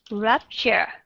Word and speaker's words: rupture: Nhưng mà trong cái chữ stir, rup ở đây thì các bạn đã đọc là schwa sound.